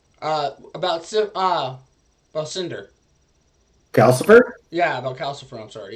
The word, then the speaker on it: Calcifer: Am I pronouncing it right? Calcifer.